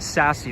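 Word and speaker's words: SASE: when and sassy thoughts yeah so sassy is pronounced sassy like s a uh sassy like sassy i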